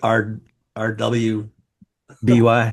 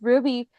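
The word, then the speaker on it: RWBY: I just always called it RW by Y. By No, it's it's I mean it's pronounced Ruby, but at first I also got confused like why are they writing it like that?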